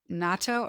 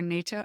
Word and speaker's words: natto: Like is it natto or nato? How do you say it? Natto, yeah. Natto, which is fermented soybeans and Japanese people have have it for breakfast often.